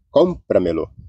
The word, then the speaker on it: cómpramelo: Então nós temos o lo, que é a última, me, a penúltima, o pra, que é anterior à penúltima, e o com, que é a sílaba tônica aí, cómpramelo.